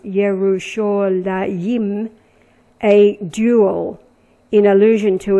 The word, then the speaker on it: Yerushalayim: Now in nautical miles 3390 from 3389 is the name pronounced Yerushalayim, a dual, in allusion to its 2 main hills.